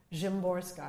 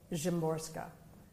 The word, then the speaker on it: Szymborska: But two Polish poets, and one of them is Wisława Szymborska.